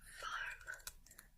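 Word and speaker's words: warm: Next is farm, farm. The W is pronounced like a V. Farm.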